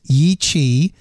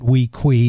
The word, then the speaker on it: Yi Qi: His name is Yi Qi. Some people pronounce it Wei Qi. It's spelled Y-I-Q-I.